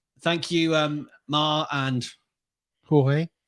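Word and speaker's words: Jorge: you um Ma and jge jge not George that's if you had seen if you had seen the name George spelled with a j o r g e here in the Shire in England we would have said George well you would have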